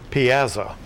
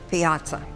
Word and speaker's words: piazza: correct look your word for this round is Piazza P as a maybe please give the definition